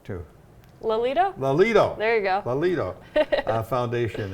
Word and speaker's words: Lelito: the information on the tim lelato i always pronounce that wrong too lolita lolito there you go lolito foundation and she'll be